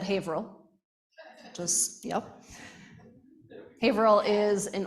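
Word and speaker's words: Haverhill: where I am from now hail is spelled Haver Hill but is is said hail just yep hail is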